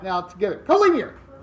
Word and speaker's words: collinear: So, today we're going to be going over collinear and coplanar. That's actually what this stuff means. This is not collinear.